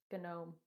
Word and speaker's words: gnome: i um i'm gonna please pronounce the g it's gnome gnome yeah or it